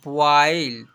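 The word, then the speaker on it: boil: जब जब किसी वर्ड में ओ आई आए तो ओ आई को औ से पढ़ते हैं। बी ओ आई एल इसे पढ़ेंगे बॉयल।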